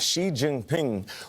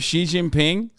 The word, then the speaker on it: Xi Jinping: I mean, Xi is the correct way to say it. Isn't it Xi Jinping?